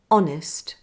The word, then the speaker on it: honest: let me give you a list of exceptions where the H is silent in words there aren't many in British English listen and copy me honor honest our air now let's